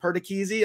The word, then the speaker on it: Perdichizzi: Is it Perdichizzi? Am I saying it properly? Are you happy with my Italian pronunciation from one paisan to another? Absolutely. You nailed it.